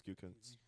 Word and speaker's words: Gutekunst: I think it's Gutekunst.